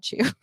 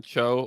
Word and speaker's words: Cho: I was talking about which is John Cho, not John Chu.